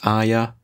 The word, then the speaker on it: Arya: mention the fact that I know I'm saying Arya technically the wrong way it's not how it's meant to be pronounced and I apologize it's way too well